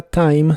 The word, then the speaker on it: time: por un largo tiempo la i de la palabra Time se pronuncia como a la e del final no se pronuncia pero las demás palabras